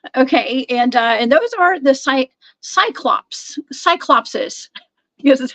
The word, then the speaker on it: Cyclopes: Okay, and those are the Cyclopses.